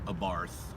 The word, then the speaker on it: Abarth: was the Fiat 500 Abarth which is pronounced a Barth but it sounds more natural saying Abarth but anyways Fiat when